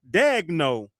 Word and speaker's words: Daignault: Cuz he has a lot of letters that don't make sense. There's a L in there. No way that as you know Daignault Daignault I think it's pronounce an L.